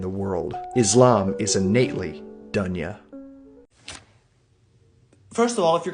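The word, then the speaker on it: دنيا: But it's dunya, dunya, dunya, dunya or dunya.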